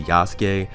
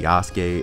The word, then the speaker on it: Yasuke: are weird that's one reason i'm gonna say yasuke second reason is because they say yasuke in the english dub and i know using